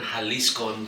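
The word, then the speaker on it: Jalisco: And then I stumbled across this distillery, Revesca, in little town called Amatitan Halisco. I'm saying it slowly so everybody can pronounce it correctly.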